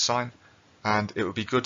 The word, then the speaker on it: sine: it looks like it says i promise it's pronounced sine and it would be good to do a